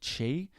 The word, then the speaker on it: qi: The Han Dynasty is crumbling under the pressures of multiple families who use a demonic chi, which is spelt QI, which makes you kind of like a Super Saiyan demon and eventually immortal.